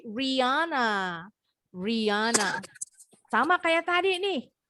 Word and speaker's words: Rihanna: nama penyanyi Amerika bacanya juga bukan Rihanna tapi Riana Riana sama kayak tadi